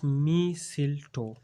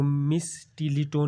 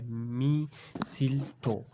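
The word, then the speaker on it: mistletoe: इसमें जो स्टूडेंट्स ये टी जो है वो साइलेंट है। इसको हर लैंग्वेज चाहे अमेरिकन हो, ब्रिटिश हो, इसमें सबको मी सिल टो कहा जाता है। इसको मिस टीलीटो नहीं कहा जाता, इसमें टी साइलेंट है। इसकी जो प्रोनाउंसिएशन है वो है मी सिल टो।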